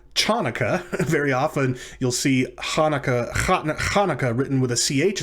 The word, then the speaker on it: Hanukkah: very often you'll see hanukkah hanukkah written with a ch at the beginning but it's not chanukah it's hanukkah so just try to